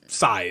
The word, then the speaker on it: Scythe: maybe a different pronunciation i believe scythe is size i think that's also